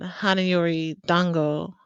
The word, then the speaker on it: Hana Yori Dango: this episode was gonna be called Tarot and hanayori Dango um did I pronounce that right yeah that's right um um